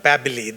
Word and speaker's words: Babbili: And a few words about myself, Babbili, that's how we pronounce my name. sounds, rhymes with Samantha. So drop the S, you got, and Babbili is a good old Texas name, Billy Bob.